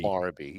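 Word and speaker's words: Barbee: How do you pronounce his name? It's always been Barbie.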